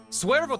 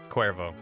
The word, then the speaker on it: Cuervo: yeah for ds games swervo 27 five months thanks for being you barry by the way i pronounced my name like the tequila stay awesome i think you've told me that before cuervo and i i appreciate